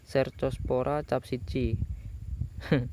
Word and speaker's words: Cercospora capsici: Nah, untuk cabai yaitu tujuannya itu untuk penyakit bercak daun atau Cercospora capsici. Seperti itulah bacanya.